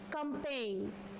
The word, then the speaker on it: campaign: Campaign. There is G is silent here.